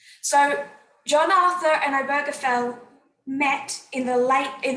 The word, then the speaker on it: Obergefell: say overflow i did look up how to pronounce it it's obergefell so john arthur and obergefell met in the late in the early 1990s